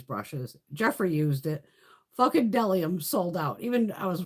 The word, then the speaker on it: Bdellium: The B is silent. It's Bdellium Tools.